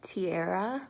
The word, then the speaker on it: Tierra: what is your full name my name is tiara yeah good name what does